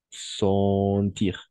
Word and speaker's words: sentir: O sea, aquí, digamos, aquí EN, hay EN en sentir, pero vamos a pronunciar siempre como ON, sentir.